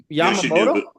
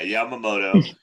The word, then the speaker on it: Yamamoto: Um uh but like you know he's even you can make an argument after two season Yamyamoto. Yeah. Yamamoto you know his second you know everybody's even putting this season comparing it to Bum Garner's 2014 season.